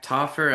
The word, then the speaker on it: Taufer: So, uh, hello everybody and today we are here with Tooffer. Am I pronouncing that right?